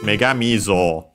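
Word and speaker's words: 女神像: Megami on its own would be high, low, low, because the accent is on the me, and so the syllables after the accent are low. Yeah, in this case would be low, high, high, and then low, low. So yeah, the accent is on the mi, and Zo is low.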